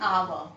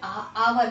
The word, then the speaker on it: hour: I met him an hour. Now children, look at this word. An hour ago. So children, hour, we never say hour. What do we say? Hour. H is silent here.